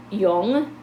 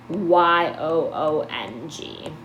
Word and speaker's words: Jung: baby sorry fright and then we have Carl Jung is how you pronounce his name oops it's Ju ng but it's pronounced Y OH Ong is how you pronounce his last name and